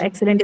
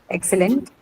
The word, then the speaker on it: excellent: not what is it in the case of excellent it's not right it's excellent we don't say excellent no it's excellent you can clearly hear the a sound so yeah to your